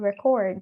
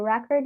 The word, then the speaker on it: record: the word record and record. So record is a noun, record is a verb.